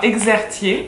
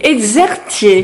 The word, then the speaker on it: Exertier: Donc je suis avec Julie Exertier et c'est Exertier. Exertier. Voilà, je me dis que c'est compliqué, mais ça se prononce comme ça.